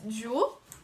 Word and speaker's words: Joué: so this is um i think we pronounce it as jewel which means play in french if i'm correct and